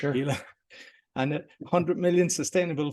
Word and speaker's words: Pela: Is that how you pronounce it, Pela? Yeah, you can call it Pela, for sure. Pela.